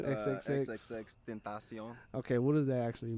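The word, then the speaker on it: XXXTentacion: XXX Tentacion.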